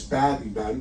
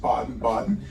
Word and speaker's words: Baden-Baden: It looks like it's Baden-Baden, but they pronounce it Baden-Baden.